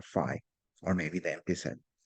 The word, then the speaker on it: phi: It's pronounced phi, P-H-I.